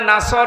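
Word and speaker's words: نصر: যদি মুখটা গোল না করে সিন দিয়ে উচ্চারণ করেন, অর্থ হয়ে যাচ্ছে হে নবী যখন শকুন আসবে, ঈগল পাখি আসবে, তখন আপনি বিজয় পাবেন।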